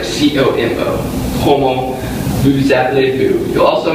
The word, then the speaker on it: comment: You'll notice in this one that in Como, you stop pronouncing the word essentially after the last vowel. So it kind of sounds like C-O-M-O.